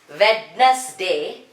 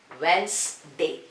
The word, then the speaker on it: Wednesday: This is not Wednesday, this is pronounced as Wednesday. So here D is silent.